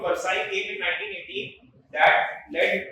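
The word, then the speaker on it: Versailles: called of also but actually pronounced the Treaty of versai came in 1918 that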